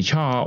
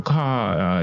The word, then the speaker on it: char: double and then the chart or car depending on how you want to pronounce this all right so today